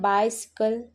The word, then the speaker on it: bicycle: जैसे BICYCLE, इसे हम पढ़ते हैं बाइसिकल। अब यहाँ पर पहले सी के बाद वाई है, इसलिए यह बना स, बाय से।